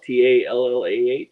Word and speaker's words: Tallah: Tallah?